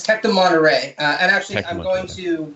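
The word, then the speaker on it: Tec de Monterrey: politics and international relations at the university of tech de monterey mexico am i pronouncing that right uh it's tech to monterey and actually i'm going to whitman college in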